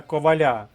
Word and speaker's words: Коваля: мужнього Франка Івана сина Коваля Нехай почує простий дієслівний присудок рекомендую записати слово Валь собі словничок орфоепічний наголос Коваль але немає Коваля тож там де є